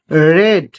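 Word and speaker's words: read: তারা সেই গল্পটি পড়েছিল, তাহলে they had, they had রেড, রিডের third রূপ কি, রিড, রেড, উচ্চারণ আলাদা, স্পেলিং একই হয়, তাহলে দে হ্যাড রেড দ্যাট, সেই গল্পটি, তাহলে that story, they had রেড that story.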